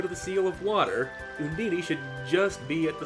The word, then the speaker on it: Undine: to get Undine, and I'm calling Undine because that's the way they pronounce her name in this game, and I've heard it said like Undine, which actually makes more sense, but Undine's what I know.